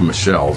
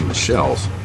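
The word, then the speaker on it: Michels: and formal organization um robert michelle's and it's pronounced michelle's it's spelled michael's but the pronunciation is michelle's um he didn't he didn't uh um he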